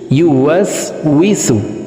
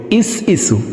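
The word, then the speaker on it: يُوَسْوِسُ: We, scene পেশ সু, ইউ ওয়াস উইসু। আল্লাযী ইউওয়াসউইসু। আমরা অনেকে এই শব্দটিকে এইভাবে পড়ি, ইস ইসু, ইস ইসু এভাবে পড়ে থাকি। প্রিয় দর্শক, ইস ইসু হবে না, হবে ইউওয়াসউইসু।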